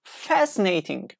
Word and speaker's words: fascinating: a fascinating we say we pronounce fascinating fascinating fascinating not s and C combination as you say like